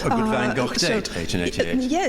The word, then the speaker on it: Van Gogh: Almost you already referred to it as Van Gogh. It looked very much like Van Gogh. No, I'm saying Van Gogh because that is how you pronounce it, but that's obviously difficult for non-Dutch